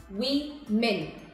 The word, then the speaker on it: women: to be pronounced the same way the correct pronunciation here is we mean we men okay another word on the list is cough